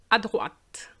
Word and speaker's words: à droite: So we do pronounce the T because of the E.